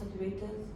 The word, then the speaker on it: accurate: In the most accurate way possible? Accurated does not exist. I know. And the word accurate has the accent on the first syllable.